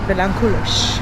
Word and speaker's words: Vilanculos: How would you say vilanculos? Vilanculos. You see the S is like sh.